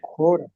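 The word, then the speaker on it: ὥρα: Y esta palabra lleva espíritu rudo.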